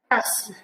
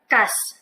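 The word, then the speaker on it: كأس: Kas, glass, baso. May diin po yung pagkabigkas niya dahil po yan sa hamza. So, kas, baso.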